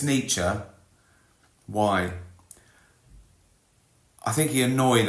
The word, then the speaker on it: Nietzsche: Nietzsche. Or Nietzsche. as Americans say.